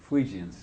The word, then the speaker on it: Fuegians: How do you pronounce that? Fuegians.